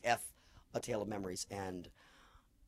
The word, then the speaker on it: Ef: uh e or it's EF but it's it's pronounced F A Tale of Memories and I um that